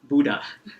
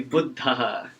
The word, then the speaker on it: Buddha: buddha okay now from now on this class will no longer pronounce it buddha okay it will be buddha okay excellent i don't